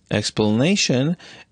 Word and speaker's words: explanation: the second set but explanation explanation is a four syllable word so it is marked plus stress on both the first X the first and the third syllable explanation and plus stress